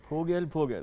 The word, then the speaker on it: 보글보글: 보글보글. Yeah. And just say it fast.